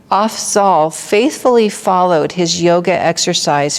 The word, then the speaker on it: Afzal: So it says that Afzal, I think is how you say his name, Afzal faithfully followed his yoga exercise for 20 years.